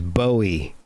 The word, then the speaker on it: Bowie: put that one to rest because it's definitely bowie yeah that's that that was definitely his his pronunciation so that led on to a kind